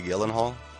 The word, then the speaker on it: Gyllenhaal: Which I guess you're supposed to say Gyllenhaal. That's really how you pronounce it.